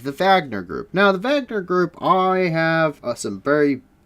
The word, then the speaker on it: Wagner: wagner group is it's spelled wagner but it's pronounced wagner and they are a russian mercenary group um